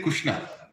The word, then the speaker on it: Krishna: Like if you go to Oriya, they say Kushna, like that.